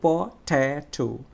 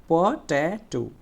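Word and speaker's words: potato: এটা একটা সিলেবল, তাহলে তিনটা সিলেবলের মধ্যে দ্বিতীয় সিলেবলটা স্ট্রেসড সিলেবল হয়েছে, এই জন্য এটা একটু জোরে উচ্চারণ করতে হবে, একটু সময় নিয়ে উচ্চারণ করতে হবে। তাহলে বলো পটেটো, পটেটো, পটেটো।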